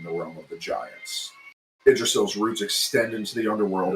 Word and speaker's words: Yggdrasil: Yggdrasil. Oh, that's how you pronounce it?